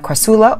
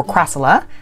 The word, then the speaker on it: crassula: in this video we're going to discuss the crassula or crassula however you prefer to pronounce it perfe leotta falcata and this is